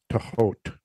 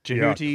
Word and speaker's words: Thoth: Tehot. Tehot. We heard it as Tehoti, too. Tehoti. Jehuti. Yeah. There's multiple ways. Tehuti.